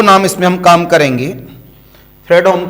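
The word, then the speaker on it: Fredholm: इसमें हम काम करेंगे फ्रेडम का और वोल्टेरा का दोनों में से कोई भी नाम इस्तेमाल किया जा सकता है एल साइलेंट होता है इसका एंड वोल्टेरा इंटीग्रल इक्वेशन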